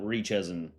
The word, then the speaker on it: RYCHZ3N: Okay, next we have Rychezin. RYCHZ3N. We're going to pronounce that Rychezin.